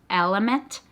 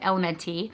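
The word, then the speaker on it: LMNT: and so I don't I think it's pronounced element but I would never have gotten I've always said elemente and this one is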